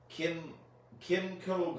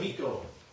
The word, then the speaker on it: Kimiko: and Janet Varney, Greg Baldwin, Michaela Jill Murphy, Kimco Glenn. I'm sorry if we mispronounced these. There, it's corrected. Kimiko.